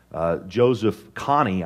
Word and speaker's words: Joseph Kony: But the leader of this group, Joseph Kony, I believe is how you say his name,